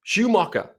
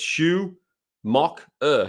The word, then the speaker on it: Schumacher: that is the pronunciation no Schumacher ala Khan of Michael Schumacher from formula one no no no it's Shu mock ER Schumacher skip Schumacher so skip